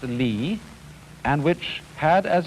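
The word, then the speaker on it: 理: Do you remember this word which is pronounced li, and which had as its original meaning the markings in jade, the fiber in muscle, or the grain in wood.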